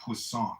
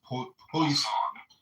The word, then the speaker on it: Poisson: Not poisson. It was poisson. Poisson. Poisson. It's a French scientist. It looks like poison, right?